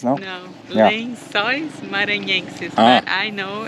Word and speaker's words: Lençóis Maranhenses: I didn't butcher the names, no? No, Yeah. Lençóis Maranhenses, but I know it's not easy to pronounce.